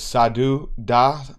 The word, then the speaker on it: Sadhu Dah: jump into today's conversation my guest today is sadhu da brother welcome to the podcast man how are